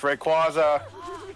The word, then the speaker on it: Rayquaza: rayquaza yeah look look i'm not pronouncing it wrong i know that for a fact about it rayquaza it's rayquaza all right then what